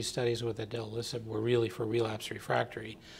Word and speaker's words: idelalisib: as, and I want to make sure I pronounce it correctly, idelalisib.